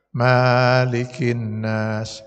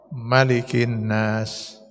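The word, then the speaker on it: ملك الناس: Sama dengan di Quran surat An-Nas. Malikin Nas. Bisa, benar itu. Atau Malikin Nas. Dipendekkan mimnya. Dua-dua bacaan itu benar.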